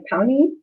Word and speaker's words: Pawnee: is an actual um it's pronounced more like pony and i'm getting that